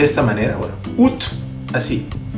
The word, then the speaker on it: août: Mira, si está escrito A, debería decir août. Bueno, c'est comme ça, c'est le français, et il y a des exceptions. Así se pronuncia août. Y miren que tiene un sombrerito en la U, que no hace nada, no afecta en la pronunciación.